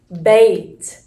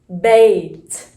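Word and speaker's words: بيت: it in its full form this word is pronounced bait bait and it is means house bait means house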